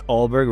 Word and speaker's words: Ulberg: Yes, Ulberg, right? That's how you say it. Ulberg is doing really good.